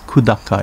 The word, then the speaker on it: Kudaka: Kudaka, pronounced Kudaka in Uchinaguchi.